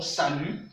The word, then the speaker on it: salut: N'oubliez pas, le T n'est pas prononcé. Nous disons salut.